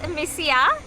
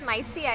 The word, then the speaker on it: Misia: So this is Misia. I always thought it was Mysia. It's Misia. I pronounce it as Misia.